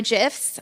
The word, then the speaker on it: GIFs: moving pictures gifts or gifs I call them gifs uh I will fight you about it later on for all those who say with a hard G sound and um we couldn't